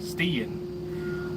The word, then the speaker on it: Stein: Rhymes with Ian. Stean.